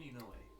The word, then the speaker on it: Inoue: Inoue is my name. I'm just gonna write down You want to Rinny. spell that?